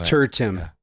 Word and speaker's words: Tertium: You have to think like a Roman. Tertiary. I know. Yeah. Your imperialist is lacking. It's tertium. Yeah. It's tertium. Yeah, it's tertium. Like if you listen to them pronounce it in the video game stuff, it's tertium. Yeah, absolutely. But yeah, it's because it's supposed to be space Latin.